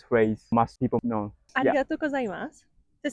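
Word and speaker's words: ありがとうございます: Arigatou gozaimasu.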